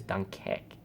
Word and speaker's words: Dunkerque: I don't know how to pronounce it, but I know how to pronounce the second one. Is in English is Dunkirk, and in French is Dunkerque.